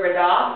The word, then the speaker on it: verdad: D actually sounds like TH, like you're saying the, like for example the word verdad, which means right, you hear the TH sound.